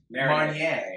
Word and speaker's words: Marnier: Marnier. Marnier. The strainer in the You know, you don't need to pronounce it, you just need to drink it.